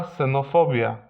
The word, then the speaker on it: xenofobia: Jeśli jest na pierwszym miejscu jako sy. Una xenofobia.